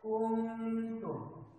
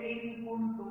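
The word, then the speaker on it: كنتم: একবার করে পড়তে হবে কুনতুম। এই শব্দটিকে ইন কুনতুম যদি আমরা বলি তাহলে সেটি ভুল হবে, তখন ইজহার না উচ্চারণ হয়ে যাবে, অথচ এটি হবে একফা, অর্থাৎ এটা নাকের মধ্য থেকে উচ্চারণ করতে হবে বাংলা চন্দ্রবিন্দু যেভাবে আমরা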